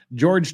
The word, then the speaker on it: Jorge: On February 24, 2020, defendant called 911 after finding her boyfriend, George Torres, deceased. And yes, I know it says Jorge, it's pronounced Jorge, but everyone else pronounces it George, so we're going with George.